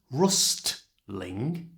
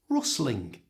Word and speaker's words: rustling: In this last word, rustling, the T in the middle has a consonant on either side of it, so it's usually not pronounced. It's not rustling, it's rustling.